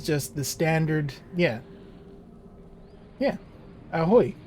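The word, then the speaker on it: ahoj: Yeah, yeah, ahoy, but with a J on the end. Pronounced exactly the same as far as I can tell.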